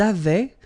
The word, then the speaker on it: avaient: Ils avaient, so remember, even if we've got this A-I-E-N-T, well, we don't pronounce it, or we don't pronounce this E-N-T, so we get avait, okay, phonetically.